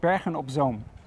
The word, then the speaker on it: Bergen op Zoom: It's called Bergen op Zoom.